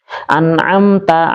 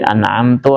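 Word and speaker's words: أَنْعَمْتَ: Dia diubah menjadi an'amtu alaihim. Nah, ini lahjat juga ee apa namanya? Ee kesalahan dalam pengucapan tetapi bisa merubah makna. Anamta yang engkau Allah beri nikmat. Tapi kalau anamtu yang aku beri nikmat jauh.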